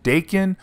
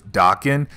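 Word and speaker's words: Daken: out with his son Dakin or Dokken someone told me I mispronounced his name in the earlier videos we did of Dakin when he was dark Wolverine and I was told it was docking I could be wrong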